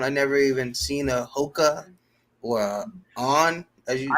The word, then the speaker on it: HOKA: not, says from brands like UGG, Hookah, or which is HOKA. So I'm probably saying it wrong. Oh Hoka, yeah, yeah.